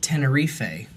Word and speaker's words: Tenerife: our tenerife airport disaster which by the way is apparently pronounced tenerife so i was i'm